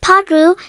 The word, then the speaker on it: patru: tre, pronounced like tre, patru, pronounced like padru, sinci, pronounced like chinchi,